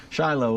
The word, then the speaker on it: Shiloh: is the way we pronounce that we also pronounce it Shiloh and not Shilo uh but Hannah prayed I